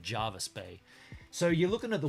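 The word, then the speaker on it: Jervis: r vis it's actually it's spelled Gervais but it's said Java spay so you're looking at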